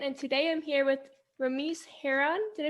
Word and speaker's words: Ramese Hearon: inspiring my generation and today i'm here with remiss herron did i pronounce that right correct okay and he is